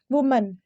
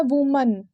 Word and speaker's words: woman: वुमन। ध्यान देना, इसका जो सही प्रोनाउंसिएशन होता है वो होता है वुमन, इट्स नॉट वुमेन। आप लोग देखिएगा कि बहुत लोग, हम लोग इसे ऐसे पढ़ते हैं, वुमेन।